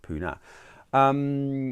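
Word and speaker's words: Pune: is actually spelt with the knee but it's pronounced puna whereas in fact it i presume is referring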